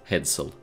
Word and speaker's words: headsail: are pronounced mainsail, headsail, etc.